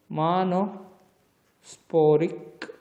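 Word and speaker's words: monosporic: porrik development data okay it is pronounced as mono spory develop ment and okay so one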